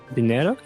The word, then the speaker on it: dinero: The dinero. Is that how you say it? I think. Dinero? No, that's correct.